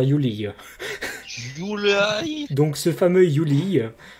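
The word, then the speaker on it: Yuliy: Donc vous prononcez ça comme vous voulez. Moi je vais dire Yuli.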